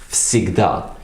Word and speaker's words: всегда: So it's spelled like всегда, but it's spoken всегда, because the s is a voiceless consonant and it is placed after the voiced consonant, which is v, and as a result